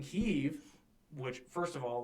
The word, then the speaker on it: Kyiv: Now, I understand in Ukrainian it is pronounced Kyiv, but historically, even going back to the Vikings that settled in the area, it was the Kievan Rus.